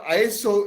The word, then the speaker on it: ISO: equal so i i iso is pronounced as iso iso from isos meaning equal if you keep that